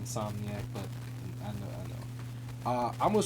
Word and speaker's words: Insomniac: yes, it's pronounced Insomniac, but I know.